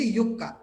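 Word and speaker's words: Yucca: ডিআর দিয়ে হচ্ছে ড্রাসিয়ানা, আর ওয়াই দিয়ে হচ্ছে ইয়োক্কা বা ইয়াক্কা, যেটাই উচ্চারণ করো না কেন।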